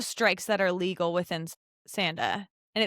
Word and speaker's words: Sanda: Okay, so break down, I know you said it kind of quickly, but break down the strikes that are legal within Sanda. And it's Sanda, Right.